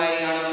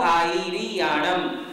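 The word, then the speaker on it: आयरियाणं: नमो अरहंताणम, नमो सिद्धाणम, नमो हरियाणम, नमो विद्यायणम, नमो सर्वसाहुणम, ये कई लोगों की टेंडेंसी है, पढ़ने की आदत बन गई है। तीसरा पद लगभग लोग चूकते हैं, नमो आईरियाणम।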